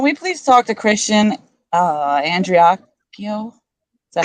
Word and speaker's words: Andreacchio: Spirits, can we please talk to Christian Andreacchio? Is that how I say it? Yeah, that's how you say it. Okay. Can we please speak to Christian Andreacchio, spirits?